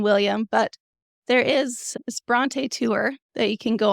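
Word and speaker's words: Brontë: O it it said in hopes that people would pronounce it correctly after he had moved to England that they wouldn't pronounce it just bront but yeah that's the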